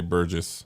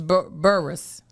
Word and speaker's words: Burris: You did say Burgess. Burgess. It's Burris.